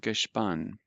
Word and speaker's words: Gespann: And remember the SP, which I didn't pronounce correctly, actually has a SHP sound. So pfiff dem Gespann.